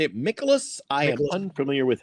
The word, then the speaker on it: Mikolas: Mikolas? I am unfamiliar with how to properly. Mikolas.